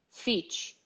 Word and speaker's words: fit: Fit. And the actual pronunciation is fit, fit, fi, fit, fi, fit. So what we say in Portuguese, this sound here does not happen here at all.